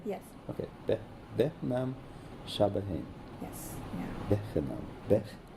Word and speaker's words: Behnam: Don't spell it. Just Okay. say it. Behnam. Behnam?